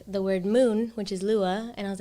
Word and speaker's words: Lua: then i took the word moon which is lua and i was like oh that sounds beautiful